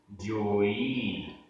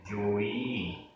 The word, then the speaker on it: जोई: हु, हु, जोई, जोई, ई बड़ी है, जोई।